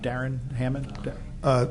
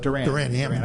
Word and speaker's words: Duran Hammond: Darren Hammond? Duran Hammond. I always get his name wrong.